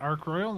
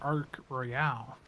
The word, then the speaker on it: Ark Royal: to pronounce Ark Royal is it Arc Royal or Ark Royale I think it's definitely Royale I I did both in